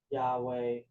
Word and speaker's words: Yahweh: to tell you that Yahweh is the usual pronunciation of yhwh to touch your gramaton